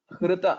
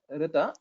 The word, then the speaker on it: हृत: And the letter hr, pronunciation of hrita, it's not rita, hrita, that should come from uras.